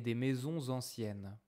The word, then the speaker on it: maisons anciennes: C'est calme avec une rivière et des maisons anciennes. Maisons anciennes. It's a nice pronunciation. Non, liaison. Des maisons anciennes.